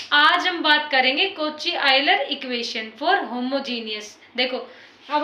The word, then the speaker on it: Euler: देखो ये जो EULER है ना, मैंने लिखा है, इस वर्ड को काफी तरह से प्रोनाउंस करते हैं, तो आप एक बार गूगल पे चेक कर लेना। आयलर बोलते हैं वैसे तो इसको।